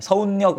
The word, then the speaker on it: 서울역: 돼야 될 거 아니야 서울력 이상하지 그럼 이건 서울역이 맞다는 거야 그래서 최종 발음 어떻게 돼요 서울 력이 됩니다 그럼 얘는 두 번